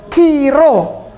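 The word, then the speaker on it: chi-rho: Lalu yang seperti huruf P itu bukan P, itu ro. Jadi bacanya kiro.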